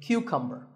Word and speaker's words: cucumber: This is a cucumber. It's not a cucumber. Think of it like saying the letter Q and then cumber like number.